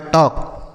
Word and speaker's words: talk: बच्चों इसे टाल्क नहीं पढ़ेंगे क्योंकि यहाँ पर जो यल लिखा है यह साइलेंट है, मतलब इसको हम नहीं पढ़ेंगे। ठीक, यह साइलेंट है तो इसको क्या पढ़ेंगे, तो देखिए टी से पढ़ेंगे टॉ, ए से आ की मात्रा और के का उच्चारण क होगा, तो ये लिखा टॉक, मतलब होता है बात करना।